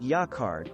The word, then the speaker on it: jacquard: that looks great in contemporary design schemes jacquard pronounced jacquard is an umbrella term for fabrics woven on